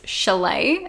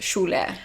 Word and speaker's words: Shule: but actually like the with my ethnicity with being Turkish it's pronounced shul what's the funniest is